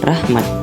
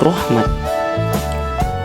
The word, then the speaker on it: rahmat: Contohnya seperti rahmat. Dilafalkan ialah rahmat, bukan rohmat.